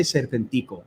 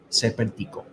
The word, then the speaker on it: Serpentico: I say Serpentico because, I'm the Spanish commentator, and that's, we talk. So that's the correct way to pronounce his name in Spanish. Serpentico.